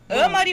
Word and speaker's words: Amary: Amari ou Amari? Amari. Ah, a pronúncia correta.